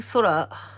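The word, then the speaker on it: 空: This kanji is pronounced sora in Japanese.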